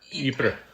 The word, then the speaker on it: Ypres: How do you pronounce it? Ypres.